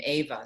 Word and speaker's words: Eva: day uh it's interesting many romani romanian and hungarian pronounce their name ava so it's is it's eva though uh you told me